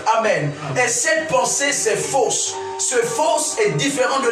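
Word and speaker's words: phos: La lumière est encore traduite en grec comme étant fausse. Quelqu'un peut dire avec moi fausse? Fausse. Fausse. Dis avec moi fausse à nouveau. Fausse. Est-ce qu'on peut dire fausse? Ce faux s'écrit P-H-O-S.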